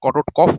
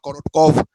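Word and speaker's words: Korotkoff: একটা Russian sound সায়েন্টিস্টের উপর নাম করা করোটকফ অনেক সময় বলা হয়, বা করোটকভ, বোথ ওয়ে এটাকে প্রোনাউন্স করা হয়।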